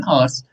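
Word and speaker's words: hours: from here it will take an आवर्स, तो आवर्स आपको पता है यहाँ पर एच जो होता है वो साइलेंट रहता है, और पढ़ते हैं हम इसको, तो ओ की आवाज देता है, तो ओ एक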